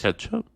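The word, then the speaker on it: kecap: ketchup M or um actually don't know how to pronounce that word I've only ever read it is it Ketchup Manish ketchup it's the sweet soy sauce the Indonesian sweet soy sauce it's spelled k no yeah k e c a p but I think that's where the word ketchup from comes from so I think you pronounce it Ketchup I don't think I've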